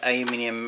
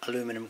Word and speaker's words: aluminium: little bit of this aluminium uh I managed to say it correctly to right today aluminium very good know that aluminum crap here we have the real aluminium here we go had